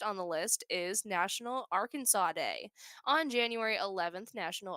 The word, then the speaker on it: Arkansas: a ongoing joke that Arkansas should really be ar Kansas as that is how it's spelled and I is really